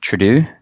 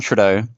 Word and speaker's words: Trudeau: John Trudeau. Did I say it right? No, Trudeau.